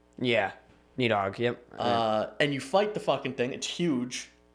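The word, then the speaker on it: Níðhöggr: Protector of realms, or there's a proper way to pronounce it. I think there's a th sound in there, but it's for our purposes it means Needhog. Yeah, Needhog.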